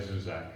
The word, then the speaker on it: Zusak: It's but I would just say Zusak, but it doesn't matter.